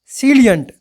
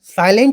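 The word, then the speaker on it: salient: Next हमारा word होने वाला है सीलियंट। सैलियंट, साइलेंट नहीं है, सैलियंट है, अर्थात कोई चीज़ कितनी प्रमुख है, उसको बोलते हैं सैलियंट।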